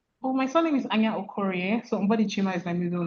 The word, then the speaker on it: Anya: Well, my surname is Ana. So, is my middle name is fine. Yeah, is fine. Okay. Ana is your surname. Yeah. Okay. Amazing. Ana is a Nigerian writer and lawyer.